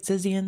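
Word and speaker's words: Zizians: the group uh am I saying it right zizan yes okay um Jack lasoda uh 34 years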